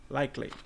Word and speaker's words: likely: Percebe que ele não fala likely, ele fala likely, tá? Como se esse E não existisse e já juntasse o K, o L e o I.